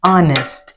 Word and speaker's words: honest: But les c'est dans honnête, honest, ou pas prononcer H là.